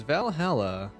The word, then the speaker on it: VA-11 Hall-A: a new game tonight this is Valhalla or V a stroke 11 hall stroke a depending on how you want to pronounce it and I know very